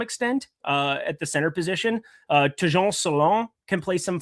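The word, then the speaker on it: Tidjane Salaün: Tejon Salon.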